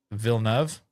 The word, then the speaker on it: Villeneuve: I think I heard Timothée Chalamet say when he was introducing the trailer, Villeneuve. I think that's how he pronounced it.